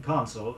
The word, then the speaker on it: consul: in large European cities contrast console Co and sul with Council Co UN SEL meaning advice note the difference in the pronunciation of the first vowels say he was given